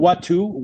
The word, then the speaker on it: Watu: And it's called Watu. Watu means people in Swahili. Spell that for me.